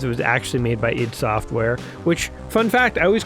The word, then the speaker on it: id Software: So I called it ID Software because how else would you pronounce it? But no, I understand now what id means, and I do call it id Software because that's their name.